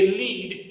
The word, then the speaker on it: lead: रहता है, उसको हम लीडर बोलते हैं, तो वो लीड के ऊपर से बना हुआ वर्ड है। But when we talk about this mineral then it should be pronounced as लेड।